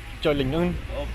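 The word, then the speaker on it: Chùa Linh Ứng: Chua Lin Un. Okay. Chua Lin Un is how you pronounce it, right? So, yeah, again, butchered the pronunciation.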